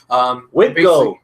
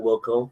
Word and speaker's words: Wilco: Wilco, not Wilco. Sorry. I always mispronounce his name.